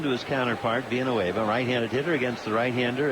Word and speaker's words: Villanueva: He said, no, I like the L's pronounced. And then people think that, well, maybe my name is Carlos Villanueva. He said, no, it's always been Villanueva.